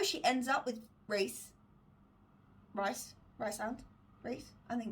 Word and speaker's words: Rhys: starts going out with is his name Rhys or right hand is rice and it's spelled r hys I'm not sure if